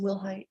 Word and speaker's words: Wilhite: And are you Wilhite? Yes, ma'am. Am I pronouncing your last name correctly? Yes, ma'am. Will Height.